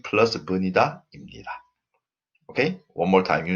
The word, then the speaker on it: 입니다: And what is also important here is the pronunciation is 입니다. This b changes to m. Okay, so 입니다 wrong. We don't pronounce like that. We pronounce 입니다.